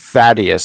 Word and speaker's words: Thaddeus: Thaddeus. Okay, because there was like 2 A's and a D in the U.S. at the end. Thaddeus.